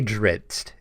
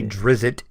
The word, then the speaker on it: Drizzt: is very true there is many ways to pronounce the name of the one and only Drizzt Do'Urden I say Drizzt is how I say it that's how I